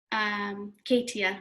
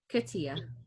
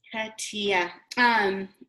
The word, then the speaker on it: Katia: over a few like Katia, right? I'm saying it wrong. I'm going to always say it wrong now. Katia? No. Tia. Katia. Okay. It's like cut and then Tia. Yes, Katia.